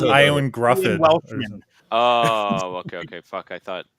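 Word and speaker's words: Ioan Gruffudd: Again, his name is hard to pronounce. It's Iwan Gruffin.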